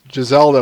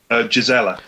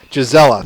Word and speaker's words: Gisela: And I get the feeling Giselda will not, or how do you pronounce her name? I'm sorry. Gisela. Gisela, thank you.